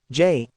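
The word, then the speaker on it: Jai: want to do it Jay pronounced Jay had always been my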